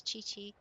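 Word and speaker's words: Qiqi: Anyway, it's it's chi-chi. It really is chi-chi. The Q is always that ch sound.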